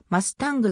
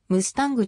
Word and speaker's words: ムスタング: a 9 トリックギター英語としての発音はマスタングはより近いが慣習的にムスタングと呼称される 1982 年にアメリカ